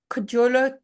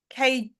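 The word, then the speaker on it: Kjölur: Steffi, just saw something about including the, how do I pronounce this? Kjolur track? Kjolur.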